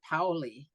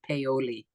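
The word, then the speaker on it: Paoli: and Pei did happen now they called it POI in this episode but it's in Pennsylvania and in Pennsylvania they call it peoli so it's phonetically like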